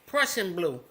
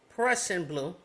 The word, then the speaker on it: Prussian blue: I have here, I just reached down and grabbed this Prussian blue. It's like Russian, but it's spelled with a P. Prussian blue, okay?